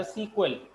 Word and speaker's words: SQL: Today many people still pronounce एसक्यूएल एज अ सीक्वल, तो हम भी इसको अक्सर सीक्वल ही बोलते हैं, एसक्यूएल को सीक्वल बोलते हैं। Though the official pronunciation is SQL, Structure Query Language.